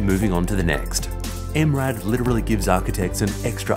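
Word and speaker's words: MRAD: The robot, pronounced as MRAT, can quickly and easily execute tasks with 10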